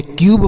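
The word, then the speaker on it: cube: तो यू के बाद अगर एक कॉन्सोनेंट हो उसके बाद ई का प्रयोग हो तो यू का उच्चारण यू के रूप में करेंगे।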